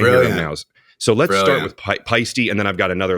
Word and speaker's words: Paiste: thank you pisty America so I think that's pretty clear that it's it's pisty but I've got one